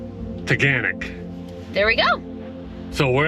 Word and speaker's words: Taughannock: it's pronounced yes and it's like organic except with a t toganic there we go so